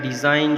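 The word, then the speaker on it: design: letter है इसी तरह डिजाइन जो है दी ए एस आई जी एन तो जी को जो है हम प्रोनाउंस नहीं करते लेकिन स्पेल करते हैं लिखने हैं इसी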